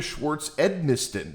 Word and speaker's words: Schwartz-Edmisten: Victoria Schwartz-Edmisten. Did I pronounce all of that correctly?